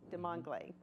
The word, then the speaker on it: Desmangles: delighted to have professor emeritus de Madre de Mangal a welcome to our program cool thank you for having me did I pronounce that correctly yes you did did a